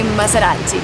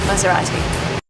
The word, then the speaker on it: Maserati: And the t is not pronounced like t. It's pronounced d. A fast d.